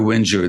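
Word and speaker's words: whinger: he's not a wher the British word is spelled w h i n g e r how do you how do you pronounce that Winger or Wier or what do you what do you say W Winger yeah Ginger Winger they call them yeah okay uh well first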